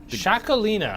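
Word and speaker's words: Txakolina: How do you say the Shakalina. Shakalina? Yeah. With the TX. Yeah, as you traditionally pronounce things that start TX.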